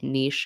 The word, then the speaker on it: niche: as many times as Leslie says nich wrong and Heather says N I should it's still open for debate I think that either way is a great way to pronounce it um I like to play Devil's Advocate I would say Niche and Niche are okay you know either way you say it don't say it any other way prefer also I'm going